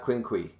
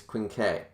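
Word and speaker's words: quinque: uh dragon said grievous it's not quinqui it's quincay um i don't know we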